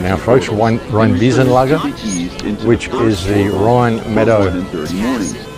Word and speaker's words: Rheinwiesenlager: I've got the pronunciation right now, folks. Rheinwiesenlager, which is the Rhine Meadow death camps, the